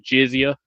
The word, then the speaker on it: jizya: Like, and oh yeah, by the way, S.E.T, it's pronounced jizya. Jizya. Jizya. Yeah, that's how you pronounce it.